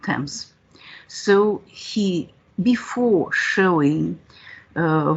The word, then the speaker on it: Thames: but he knew that americans do not know how to pronounce the name of river the river thames for them is fams or themes and not temps so he before showing